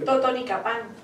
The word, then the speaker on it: Totonicapán: Totonicapán.